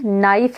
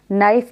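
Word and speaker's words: knife: वो साइलेंट पढ़ा जाएगा इसी तरीके से नाइफ है नाइफ में के है के को हम साइलेंट करके पढ़ते हैं तो इसी तरह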